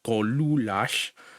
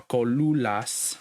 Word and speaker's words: Kolulas: Something that's informal would be Dlamu Kolulash or Kolulas, because there's no L there, so it's Kolulas.